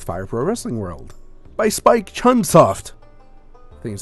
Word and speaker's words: Spike Chunsoft: by Spike Chunsoft. I think is how you pronounce it.